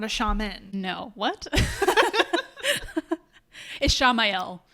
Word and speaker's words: Ishamael: Ishamael, I guess maybe is the better way to pronounce it. Like Raphael. Ishamael.